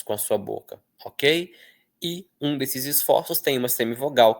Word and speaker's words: eu: Eu é um ditongo, tá? Em que o E é a vogal e o U é a semivogal.